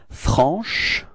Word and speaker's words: franche: So I insist a little bit on the sh at the end, but that's the idea, you know, to show you how you should pronounce it, okay? But then it should be pronounced like franche.